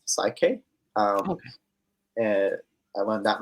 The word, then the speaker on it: PSYCH-K: So the last one's pronounced PSYCH-K.